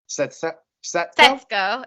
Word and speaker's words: Setsuko: Setsuko. It's the way that the SU sound in Japanese sounds. Just like it's not Sasuke in Naruto, it's Sasuke. So Setsuko.